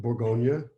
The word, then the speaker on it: Bourgogne: south of champagne is burgundy which is called Bourgogne in French so Cremant de Bourgogne lawar Valley